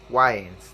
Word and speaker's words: Wayans: So these are yes, these are the two guys, Marlo and Sean Wayans. That's how you pronounce the last name.